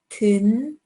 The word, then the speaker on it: 든: So, 모, 든. This is the U sound, but there's a D in the beginning and an N in the end. 든, 개, 궁.